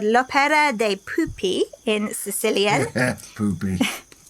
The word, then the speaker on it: pupi: Poopy. Yes. It's spelled different. It's P-U-P-I. But there we go. Maybe it is pupae, but that doesn't sound quite right.